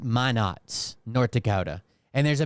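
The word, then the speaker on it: Minot: you've already heard about it but it's apparently pronounced my Nots North Dakota and there's a military base there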